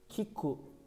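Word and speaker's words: 聞く: Kiku, Çince okunuşu bun.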